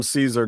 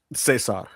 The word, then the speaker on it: Cesar: He's playing the exact same part, but they call him Caesar Don. That's right. Yeah. Cesar. Sorry. I have to say it correctly or Tony will get mad at me.